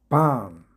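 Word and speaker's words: bomb: B 발음이 생략되는 몇 개 단어 모아봤습니다. 밤 밤은 폭탄의 의미입니다.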